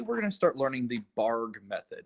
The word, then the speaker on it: Bargue: in so today we're gonna start learning the barg method it's pronounced barg even though it's spelled like bargu um the